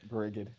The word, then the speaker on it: Brigid: Brigid, but this one's pronounced with a hard G. Brigid.